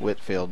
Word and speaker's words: Whitefield: I've never figured out why it's pronounced Whitfield, but it's spelled Whitefield.